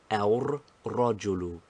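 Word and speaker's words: الرجل: together in el rogelu the lamb of alif lam assimilates itself first of all to the ra and then secondly we think of it and pronounce it as aur rajulu finally the two r's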